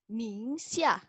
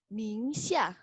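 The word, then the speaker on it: 宁夏: Dengerin ya cara bacanya. Xizang. Lagi. Xizang. Kemudian nomor 2, nih, Guangxi. Guangxi. Guangxi. Ningxia. Ningxia.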